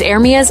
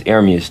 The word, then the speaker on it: Ermias: Nipsey Hussle was born August 15th, 1985, as Ermias Azkidom. My real name, it means God will rise. It's Ermias, though. That's how you say it. Oh, that's how you say Ermias?